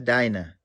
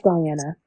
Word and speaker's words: Diana: Is it Diana or Dinah? That's not Dinah, huh? I'm mispronouncing it. My bad. It's Diana. It is Diana.